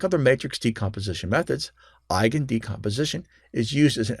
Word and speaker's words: Eigen: Eigen, pronounced I like your I, and then again, Eigen, is a German word that means own or innate, as belonging to the parent matrix.